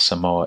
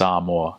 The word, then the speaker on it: Samoa: uncles and dads like it's not some more it's amor I'm like oh okay